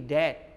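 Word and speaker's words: debt: के बाद जब हो, दोनों स्थिति में बी साइलेंट करके बोलना है। जैसे हम दे रहे हैं डीवीटी डैट, डैट माने कर्ज, इन्हें डेवट, डीओटी डाउट, ये नहीं जो डावट।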